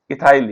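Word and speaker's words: ethyl: दो कार्बन वाला हो जाएगा बेटा इसमें, इसे कहेंगे एथिल, क्या कहेंगे, इथाइल या मिथाइल, या मिथाइल भी कह सकते हैं बेटा, अंग्रेजी में थोड़ा उच्चारण अलग होता है, मिथाइल और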